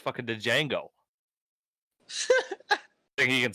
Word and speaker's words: Django: - Django thing he could spell it yeah that guy what I got you the D is silent oh yeah I didn't